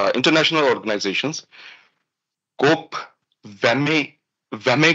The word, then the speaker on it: WME: So these are the international organisations, कोप, वेमे करके इसको pronounce करते हैं, WME, वेमे, ICMJE, CSE, EASE.